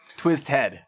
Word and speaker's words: Twiztid: Is that uh twisted or twizzed head? Twizz head. Okay. Okay. I I've seen way more people spell it that way and I'm like, you are.